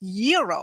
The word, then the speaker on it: gyro: Gyros I order the gyro Supreme suddenly the lady behind me chimes in it's pronounced Euro then the fellow behind her says it's a gyro I turn my back